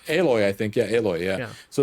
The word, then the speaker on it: Aloy: be like well i'm just going to say aloy i think yeah yeah so it's not halo